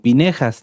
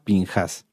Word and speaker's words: Pinjas: Se puede leer, ahorita se los voy a mostrar, como Pinejas también, pero la pronunciación en cuanto a fonética sería Pinjas.